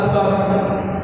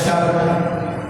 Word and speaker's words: صبر: تلفظ جیسے ہم کو بولا صبر، نہ بولا شبر. اب صبر، اب شبر اگر آپ بولیں تو غلط ہو گیا، نہیں ہو گیا، تلفظ غلط کیا.